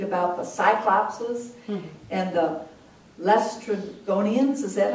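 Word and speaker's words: Laestrygonians: heard Gloria read about the Cyclopses and the Lestrygonians. Is that how you say it? Lestrygonians.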